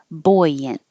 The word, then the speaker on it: buoyant: it Berard Inlet buoyant all these extra letters but it just sounds like buoyant and this has a